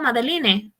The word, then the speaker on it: Madeline: Like my name is Madeline, but it's spelled Madeline with an E at the end. So if you're reading it, you say, oh, Madeline, unless you know that it's Madeline, So I didn't want that for my kids.